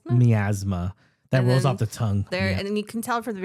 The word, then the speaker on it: Miasma: Camp Miasma. Miasma.